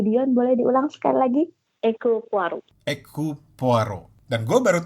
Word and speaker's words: Hercule Poirot: Hercule Poirot. Hercule Poirot. Dan gue baru tahu itu cara bacanya.